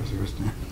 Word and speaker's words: Waziristan: He's participated in a recent delegation to Waziristan, did I pronounce that correctly? Pakistan? General, but Waziristan.